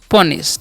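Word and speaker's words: punish: eight once next है पनिश पुश नहीं पढ़ना है क्या पढ़ना है पनिश ठीक है य क्च अ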